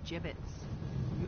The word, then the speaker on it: gibbets: Avery had some gibbets left over. Gibbets? What? It's pronounced gibbets.